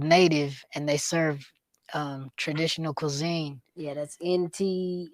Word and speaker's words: NATV: It's called Native, and they serve traditional cuisine. Yeah, that's NT. How do you spell it?